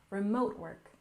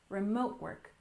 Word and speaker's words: remote work: we have remote work we stress the second syllable remote work remote work I'm sure you're familiar